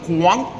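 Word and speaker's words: Quảng: The ladies were trying to teach me how to say it. Miang. Kang. Not quang. Guang. meang.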